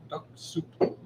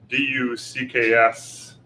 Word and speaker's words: Duxoup: the Duxoup Dolcetto. Oh, Duxoup. And not like DUCKSSOUP, it's DUXOUP. I think it's Duxoup.